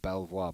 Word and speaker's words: Belvoir: all the way from Beaver Park is Johnny's home club and that is spelled Belvoir isn't it Belvoir but they call it beaver and you might want